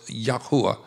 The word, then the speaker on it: Yahuwah: And the way that they pronounced the Father's name was Yahuwah.